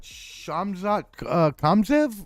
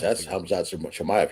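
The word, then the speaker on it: Khamzat Chimaev: to ruin this, but Shamzat Kamzev, or I think I got that wrong. That's Hamzat Chimaev you're thinking of.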